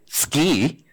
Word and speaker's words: SCI: this morning told me i have to pronounce it ski and what i'd like